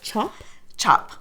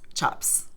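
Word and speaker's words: tjap: little something new today do you pronounce it Chop Chop like c-h-o-p but it's an l-t-j-a-p-s chops okay so um so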